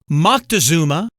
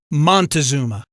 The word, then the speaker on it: Moctezuma: Moctezuma, born in circa 1466, has many variant spellings and pronunciations, including Montezuma.